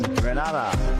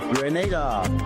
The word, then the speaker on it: Grenada: but I heard in English it's called Grenada. Say it right. Grenada. Say it right. Grenada. That's right. Grenada. There we go. Right. It's not granada. It's save.